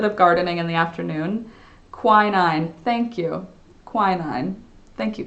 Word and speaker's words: quinine: Quinine.